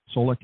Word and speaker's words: Solich: I will let you know I prefer to go by, and my last name is pronounced Solich. It's kind of a mouthful Solich.